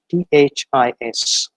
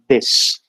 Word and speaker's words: this: a very common word t-h-i-s and the basic pronunciation of it is this and we find that most of the people from our context pronounce it as this whereas there is no